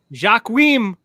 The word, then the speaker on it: Joaquin: Joaquin Phoenix. How do you say his name? Joaquin.